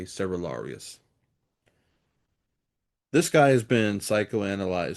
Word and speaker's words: Cerularius: Patriarch Michael Cerularius, and I've heard his name pronounced several different ways. I'm going to try to just be consistent in my own pronunciation here and just say Cerularius.